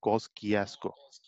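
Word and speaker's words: Kościuszko: Pronunciation मैंने एक दोस्त से पता किया, आपको सुनाता हूँ उनकी आवाज में। माउंट कॉस्किएस्को। सही है।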